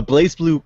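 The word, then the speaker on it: BlazBlue: it is it pronounced blaze blue even though there's no e in the middle yes it is pronounced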